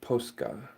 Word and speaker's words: Posca: Pronounced like Posca.